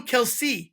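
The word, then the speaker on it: Kelce: pronounce their name so we say Kelsey yeah no there's no e at the end so say it kelse it's kelse or or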